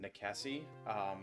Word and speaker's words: Nikesi: The one I have now is pronounced Nikesi.